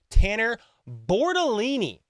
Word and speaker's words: Bortolini: Yeah, Colts select Wisconsin center Tanner Bortolini. Rhymes with tortellini.